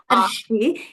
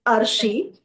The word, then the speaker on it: Arshi: I was calling you Ashi. It is Arshi.